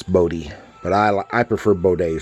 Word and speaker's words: Bode: is the work by Von Bode or Modi I guess is how they say his name's supposed to be it always looked like it's supposed to be Bode to me but I guess his son Mark says it's boaty but I I prefer